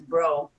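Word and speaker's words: Broe: Our last name is Bro, B-R-O-E. Both of us together, two bros, but we spell it like the healing flower.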